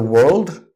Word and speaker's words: world: it's work walk world the are in the world it's silent it's not viral its world